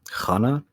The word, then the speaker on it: Chana: opens the door, or Hana. Yeah, like I think they pronounce her name like Hana, but they have a sound to it. And it's spelt like Chana, at least according to the subtitles.